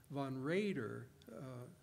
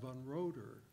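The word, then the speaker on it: von Roeder: and Swiss border is is pronounced von Rayder and notably not von rotor these are examples of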